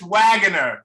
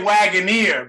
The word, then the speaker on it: Waggoner: so Billy and Chris wager that's right how you say it right yes all right because I know lot people say waganer but it's wager it's wager yeah that's how Danny pronounces it yeah oh